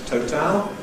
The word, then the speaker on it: total: A plus L gives you syllabic L.